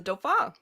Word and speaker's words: Dauphin: I think that video I did, people are like, "Oh, that's how you pronounce the episode title." It's like, yeah, it's the Dauphin.